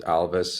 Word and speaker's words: Alvis: Darman uh here with Alvis and uh by the way we pronounce our company Alvis like Elvis and we like to